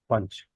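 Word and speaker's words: Poonch: of anger, hostility, punch, but it's pronounced punch if you pronounce it the English way. So you are punching your own city. It's spelled punch also, P-O-O-N-C-H.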